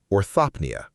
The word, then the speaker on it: orthopnoea: That last symptom has a name, orthopnea, spelled O-R-T-H-O-P-N-O-E-A, pronounced orthopnea.